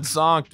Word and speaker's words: zonked: Like honked, but with a Z.